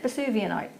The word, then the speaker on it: Vesuvianite: How do we pronounce this, Liam? Got to try again. Yeah, that sounds about right. Vesuvianite.